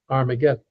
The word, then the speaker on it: Armageddon: So um in Greek, the H is not pronounced. So hargidedon becomes argedon. Armageddon.